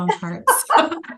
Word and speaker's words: Bomparts: The Bomparts. Exactly how it's spelled, the Bomparts. It is that simple.